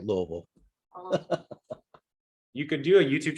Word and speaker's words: Louisville: um I would say Louisville and Jeffersonville it's spelled Lewisville but we say Louisville you could do a